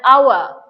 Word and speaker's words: hour: all comes not ha okay so h is termed to be silent here that is why you take the sound of o and that forms into the vowels all right so see the example